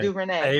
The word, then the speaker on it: DuVernay: I can't pronounce Ava it. DuVernay.